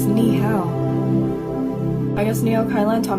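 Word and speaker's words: 你好: Lei ho. What does that mean? It means hi. No, you pronounced it wrong. It's ni hao.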